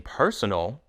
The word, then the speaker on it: personal: In personal, the first syllable is stressed. Personal.